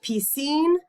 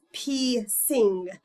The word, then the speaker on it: Piscine: that not so with piscine Molitor Patel some thought it was P sing and that I was a Sikh and they wondered why